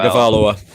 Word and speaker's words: Tagovailoa: I cannot pronounce his last name very well. Tagovailoa.